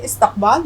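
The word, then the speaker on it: استقبال: यहाँ जो अल्फ़ाबेट आ रहा है वो आ रहा है क़ाफ़, क़ाफ़ की आवाज़ हम हलक़ से निकालेंगे।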